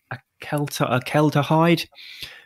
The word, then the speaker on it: acetaldehyde: your body processes alcohol by turning it into a chemical that I will try and pronounce. I always get it wrong, but I think it's acetaldehyde.